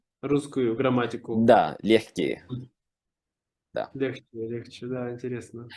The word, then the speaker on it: легче: Но произносится легче.